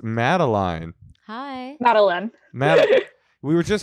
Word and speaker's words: Madeline: Yeah, it rhymes with gin and not wine.